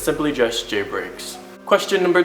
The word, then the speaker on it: JBreaks: Now my username is very simple, some people get it confused, but to pronounce it, it's simply just JBreaks.